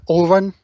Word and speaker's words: Auron: He's called Orun. I don't know if you can have a look and see what I mean. Anyone who's in the chat, it's spelled Auron, and basically he used to be a monk Yeah.